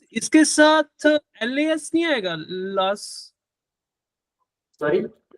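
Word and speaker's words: los: भी चेंज करना पड़ेगा, लोस लोस कोचेस, लॉस नहीं लोस, लोस लोस कोचेस।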